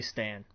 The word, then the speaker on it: Stan: I always say Stan. Stan. Okay, I'm not looking at how it's spelled or anything.